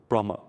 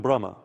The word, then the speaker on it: Brahma: But we also call him Brahma. But in pronunciation, the H is not pronounced.